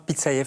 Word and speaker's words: Pitsaev: Bienvenue chez nous, Pitsayev, je prononce bien, j'espère, hein, oui.